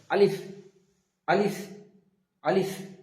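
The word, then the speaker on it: ألف: তো আমরা আলিফটা উচ্চারণ করার সময় খেয়াল রাখবো যে জীবের আগা উপরের দাঁতের গোড়ার সাথে লাগিয়ে উচ্চারিত হবে আলিফ এবং দুটো ঠুট হালকা ফাঁকা থাকবে একটা বাতাস বেরিয়ে আসবে হালকাভাবে আলিফ আলিফ আলিফ যেমনটা একটা বাতাস বের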